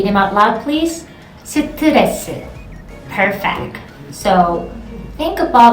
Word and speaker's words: 스트레스: This is an English word because we don't say stress. We say 스트레스. 스트레스. I know, exhale like 3 times. 스트레스. One more time, say them out loud please. 스트레스.